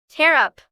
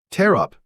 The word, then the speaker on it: tear up: Tear up. Tear up. 찢다. 여기서 발음이 티어가 아니고 테어인 점 주의하시기 바랍니다.